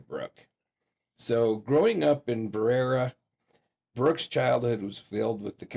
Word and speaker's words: Berea: So Brookelyn Shea Farthing came into this world on August 26th, 1994 in Berea is how I heard it pronounced.